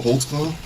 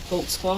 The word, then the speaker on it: Holtzclaw: there cuz I don't even know how to spell it how do you say your name Holtz claw Holtz claw what is that it's a German can you